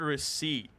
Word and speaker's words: receipt: Um, you ever think about So the word receipt, it has a P in it, but the word deceit,